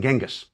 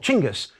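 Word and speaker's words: Chinggis: of the city walls chingus by the way is the preferred way of pronouncing the great khan's name by mongol specialists today it is a more accurate rendering of his written name than genghis now this was hundreds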